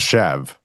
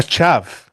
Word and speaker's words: chav: A shave. A chav.